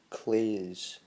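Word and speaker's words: claes: So you'd say that, clay, and then you put a Z at the end. So you'd be clays, and then just blend it together rather than clays. It'd be clays, and let that Z become more of an S as it comes out. The initial to think of it as a Z, but think of it more of a double S maybe.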